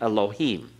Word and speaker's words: Elohim: always the uh so we've learned to say Elohim okay Elohim it would be actually Elohim be barely there with the first part of